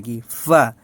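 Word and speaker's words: قاف: কফ বলার ক্ষেত্রে একটা বিষয় লক্ষণীয়, মুখটা গোলাকার থাকবে, কফ, কফ। তারপরে হচ্ছে কাফ, কাফ, এটার ক্ষেত্রে মুখটা আবার চওড়া হয়ে যাবে, গোল হবে না, কাফ, কাফ। তাহলে কফ, কাফ।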